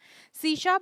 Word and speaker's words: C#: We write C#, C hash, but we pronounce it C#.